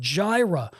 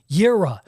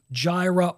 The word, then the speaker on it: Jireh: combined with another word Gyra or more accurately but still poorly pronounced by me yira jaira or yira is a form of